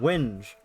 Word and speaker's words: whinge: Whinge. Ah, whinge.